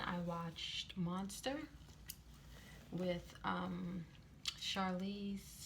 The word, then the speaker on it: Charlize: watched monster with um charlize charlie charlize theron that's how you say her name and she plays um